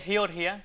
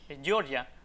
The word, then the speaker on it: Georgia: Bueno, en ese caso ahí la capital de Georgia, que me alegro de que lo hayas pronunciado así, Georgia, porque aquí no debemos decir Georgia porque ahí no se habla inglés y de hecho, para